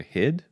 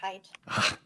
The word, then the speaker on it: Hide: Hid? It's Hide.